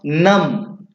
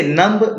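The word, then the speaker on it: numb: इसे नम्ब नहीं बोलेंगे, इसे क्या बोलेंगे आप? नम। बी को छोड़ देंगे तो क्या पढ़ेंगे इसे? नम। क्यों? क्योंकि बी यहाँ पर साइलेंट है। एम के बाद जब कभी भी बी आएगा तो वो भी क्या होगा? साइलेंट होगा।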